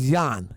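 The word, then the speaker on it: Jan: why okay what it's Yan you say Yan that's how you pronounce it in Dutch that's how you say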